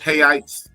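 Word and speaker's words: reais: um to the 500 so um 100 rails hites the money the money is R but it's spelled like real it's literally spelled r e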